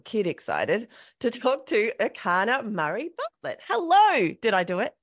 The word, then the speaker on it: Erchana Murray-Bartlett: And let's dive into this conversation with Erchana Murray-Bartlett. Enjoy. Today on FitMIND FitBODY, I am super excited, like really excited, like a little kid excited, to talk to Erchana Murray-Bartlett.